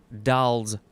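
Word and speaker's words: Dall's: a kind of sheep sound next is oh doll's porpoise or it is as it's spelled poor poise d-a-l-l apostrophe s it is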